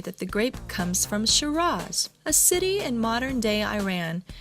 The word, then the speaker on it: Shiraz: at the end while in English is sounded more like Shiraz with a Z sound at the end however there is no